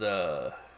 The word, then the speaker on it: Tessara: No, it is Tessara, Tessara. Tessara is how I'm going to pronounce it.